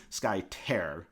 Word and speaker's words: Skytear: we have skye now i'm going to say it wrong because i say it wrong every time sky tear i always want to say definitely tear okay not okay it's 100 tear in my mind yes and then we